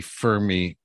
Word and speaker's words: Fermi: right now i think i would fail the fermi paradox am i pronouncing that correctly for me yeah you are